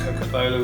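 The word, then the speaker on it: cocobolo: got what they're referred to as coconut it's pronounced coca-bola which is like a mexican area rosewood so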